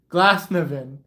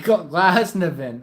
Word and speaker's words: Glasnevin: Alright, so Linda says, it's pronounced Glasnevin. Oh, wait, Glasnevin.